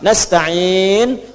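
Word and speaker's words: نستعين: Nastain ujungnya sukun. Kalau dimatikan dibaca ujungnya pasti mati.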